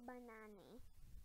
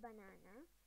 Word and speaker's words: banane: B is for banane, not banana, banane.